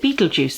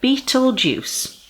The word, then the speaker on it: Betelgeuse: to you betting betting or okay so you pronounce it Betelgeuse there we are Betelgeuse which sounds like a nasty Halloween punch doesn't